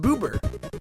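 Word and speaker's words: ブーバー: be the strongest magmar magmar's japanese name is pronounced boober pincer pincer is terrifying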